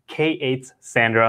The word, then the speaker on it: K8ssandra: We're not only going to be talking about Cassandra, but this word which you know if you're concerned about how to pronounce it, it's K8 Sandra.